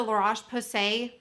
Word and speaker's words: La Roche-Posay: And so I thought that the La Roche-Posay, I said it right, micellar water would be extra soothing for micellar water.